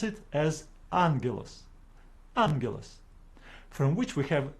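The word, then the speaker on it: άγγελος: with a solution to pronounce the first gamma as n for example in this word we have two Gammas standing together it is incorrect for us to pronounce it as agilos we pronounce it as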